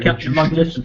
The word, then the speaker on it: logisticians: Logisticians. I can't say it right. It's like magician, but with log.